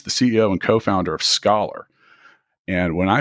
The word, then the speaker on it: Scollar: Now, with me today is Lisa Tamayo, who's the CEO and co-founder of Scollar. And when I say Scollar, I'm not necessarily referring to being educated, am I?